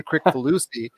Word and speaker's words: Kricfalusi: going to say this i say this with the hard c so i apologize john crick collusion uh which i'm sure everybody else says it that way too but i noticed you said it ron with a soft sea uh john crick volusi